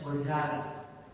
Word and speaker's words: Ghazali: Tapi yang banyak riwayat mengatakan biduni tasdid, tanpa ada tasdid di dalam Ghazali, jadi bacanya Ghazali.